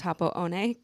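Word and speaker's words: Happo-one: And I only skied Happo One, which looks like Happo One. I learned it's pronounced Happo One because I was Okay.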